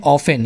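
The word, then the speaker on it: often: यह है ऑफेन। यहां पे टी साइलेंट है। टी नहीं पढ़ा जाएगा।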